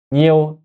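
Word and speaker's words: nhiêu: 뭐냐면 이게 니우가 니에오 발음이 세 개잖아요. 발음 세 개 아니야. 이고 이제 처음에는 좀 잘 이해가 안 갔거든요. 근데 요거를 우리 한국 그 발음을 예로 들자면 이거 보면 이해하시겠죠? 보통 우리가 회라는 단어가 있다고 쳐요. 회를 후회하고 애하고 합친 것이 회잖아요. 근데 이제 이거를 우리가 후회 이렇게 안 읽잖아요. 그냥 회라고 읽잖아. 한 글자 한 발음으로 읽잖아요. 마찬가지로이 발음이 하나라고 보시면 돼요. 니에오 니에오 이게 하나예요.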